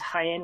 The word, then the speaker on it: Jaén: Not pronounced Jane, I don't believe. I think it's Jaén, which is a city in southern Spain, of course.